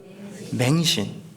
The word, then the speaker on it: 맹신: 믿는 건 맹신입니다 뭐라고요 맹신 발음 잘하셔야 돼요 뱅신이 아니고 맹신이에요 눈물 맹자 덮어놓고 믿는다